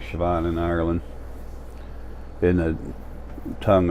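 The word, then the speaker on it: Siobhan: plenty but Paul and B already are um sioban her name is spelled s i o b h n but it's pronounced like sioban in Ireland in a tongue over there I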